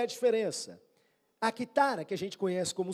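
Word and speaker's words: κιθάρα: Quando você lê a palavra no grego, na verdade não tá escrito cítara, como a gente pronuncia hoje, tá escrito quitara.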